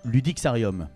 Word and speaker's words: Ludixarium: Il s'agit du Ludixarium. Je prononce bien ?